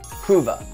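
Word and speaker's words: HUVA: summed up in essentially a forward acronym pronounced hoova h-u-v-a now the H well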